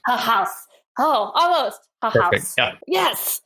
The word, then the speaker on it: Haghuis: appropriately for us please it is pronounced a house oh almost ha ha